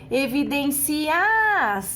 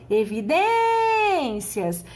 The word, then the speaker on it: evidências: digo Evidence as porque se você não separasse desta forma você pronunciaria evidenciar e nós não falamos dessa forma nós falamos evidências no momento que você